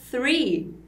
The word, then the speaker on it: three: dizer dedão, ou então three, que é o temido, né? Número 3. 1, 2, 3, 4. Sempre pensa nesse som do S, mas lembra de botar essa linguinha para fora.